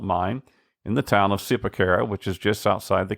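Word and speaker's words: Zipaquirá: And Zipaquira is spelled Zipaquira, but it's pronounced Zipaquira.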